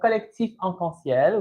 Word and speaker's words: Collectif Arc-en-Ciel: Your pronunciation is pretty good. It's pretty good. It's actually the Collectif Arc-en-Ciel, which translates to the Rainbow Collective.